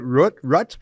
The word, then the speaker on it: Rutte: Rutte? How do you pronounce the name of the leader of the Netherlands? He's a serious member of the World Economic Forum, too. What's his name? Mark Rutte. Yes, Rutte.